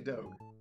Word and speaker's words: Doge: And if I want you to walk away with anything, it's that it's actually Doge.